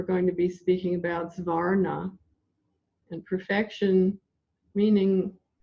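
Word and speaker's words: Xvarnah: So let's take a look first at this Varna, and I want you to know it's spelled X-V-A-R-N-A-H, Svarna.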